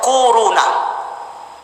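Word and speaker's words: كورونا: Kak Wow rohna korona Corona bacanya tuh koruna akhir-akhir ini bukan dibuat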